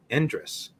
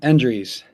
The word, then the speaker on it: Endres: Okay, joining me now on the call, we have head coach of Hampton High School, Endres. Did I say that right? Close. Endries.